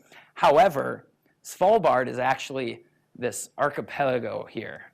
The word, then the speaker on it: Svalbard: but even more fascinating perhaps as small bard if anybody wants to know how to how to pronounce that Svalbard however small bard is actually this archipelago